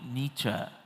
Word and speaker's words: Nietzsche: We call him Nietzsche, but in Germany they call him 'Neech'.